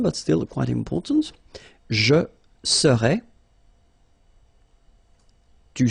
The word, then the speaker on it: serait: So final T is not pronounced. So phonetically, you've got the same form as we had previously. Il serait, elle serait. Okay, so one more time.